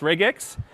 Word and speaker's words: regex: expressions otherwise known as reg X by in the O'Reilly book it's a portmanteau two syllables come together reg X you're probably not going